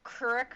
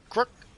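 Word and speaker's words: Kreuk: Um David said Kristen Kur Kurrick I could never say her name correctly. was in several successful series after Smallville. Can you say it correctly? Crook.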